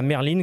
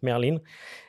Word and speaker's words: Merlin: je suis pas sû Merline ou Merlin alors ça s'écrit Merlin ouais c'est le nom du du faucon erillon en anglais donc Merline et euh et celle-ci